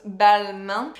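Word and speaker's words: Balmain: but this is Bal so pronounce Bal and I used to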